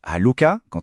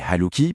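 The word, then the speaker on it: حالك: On prononce halle à un homme et haluki pour une femme.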